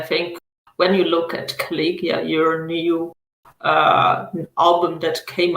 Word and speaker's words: KaliYuga: So speaking about a new release, KaliYuga, do I pronounce it right? KaliYuga. KaliYuga.